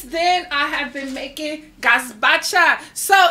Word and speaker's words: gazpacho: Gazpacho. Gazpacho. Yeah, I think that's how you pronounce it.